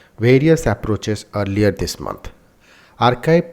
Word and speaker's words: arXiv: arXiv pronounced archive because the X stands for C. The 22nd letter of the Greek alphabet is a gigantic online